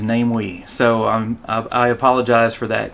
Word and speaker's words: Namewee: about the pronunciation of name we and um so last time i thought the pronunciation was uh namewe or namiwii but actually uh since found out that the pronunciation is namely so i apologize for